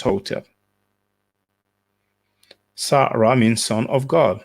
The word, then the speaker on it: Hotep: So you don't pronounce that Hotep-tep, just Hotep.